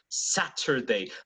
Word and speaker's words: Saturday: yes that's right so if you're British it's going to be Saturday not a simple stammer